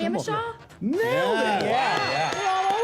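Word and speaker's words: Jamacha: Hamishaw?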